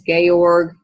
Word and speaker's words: Georg: Okay, looks kind of like Ulrich. Some people might say that, but our story takes place in Eastern Europe, so the pronunciation is Georg and Ulrich.